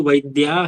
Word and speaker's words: वैद्याः: Work हाँ, तो किंतु वैद्याः, आ का वैद्याः उच्चारण वैद्याः कार्यं कर्तुं शक्नुवन्ति टू डॉक्टर्स वैद्याः बहुवचन इसमें क्या है ना, इसको खींचना है, इसके बाद नहीं खींचना है।